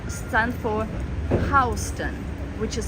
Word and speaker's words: Houston: um ho the last two letters stand for Houston which is spelled same way as Houston so south of